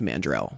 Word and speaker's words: Mandrel: It might look like it, but it's pronounced Mandrel.